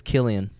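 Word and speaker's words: Cillian: Murphy has probably been Brazilian I think it's Killian kill the G right what the like spelled like Gillian why the would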